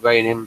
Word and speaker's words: Reyin: Right, and I pronounce it reigning because he spells his name like that on Facebook. He spells it REYIN.